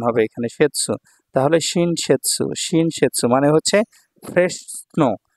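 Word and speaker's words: 新雪: আতারাশি শিন আর এখানে হলো ইউখি ইউখির সেৎসু উচ্চারণ হবে এখানে সেৎসু তাহলে শিনশেৎসু শিনশেৎসু মানে হচ্ছে ফ্রেশ স্নো মাত্র পতিত হওয়া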